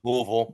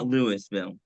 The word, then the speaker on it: Louisville: It depends on where you're from. You got a mouthful of marbles. Louisville. However you want to call it, you know. Just not Lewisville.